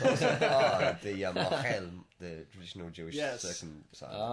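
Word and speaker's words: mohel: Oh, anyway, yeah, look it up, mochel, M-O-H-E-L. Thank you for traditional spelling that, because circumcision. nobody knows how to spell it when you just say it.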